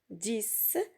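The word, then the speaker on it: dix: Aussi dans le mot 10, 10, la lettre X se prononce S.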